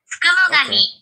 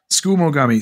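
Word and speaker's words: tsukumogami: Skumogami. Skumogami. Skumogami. There you go. Skumogami. Yeah, sorry. Skumogami. No, it's the suk. The SU is silent. It's school. Okay. You skip the first U. Anyway, Skumogami.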